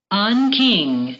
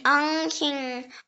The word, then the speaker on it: Anqing: The next word is Anqing. Anqing. It can also be pronounced Anqing. Anqing or Huaining.